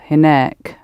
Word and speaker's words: هناك: So you're just adding a k sound on the end and emphasizing the last syllable, hinek, rather than hina.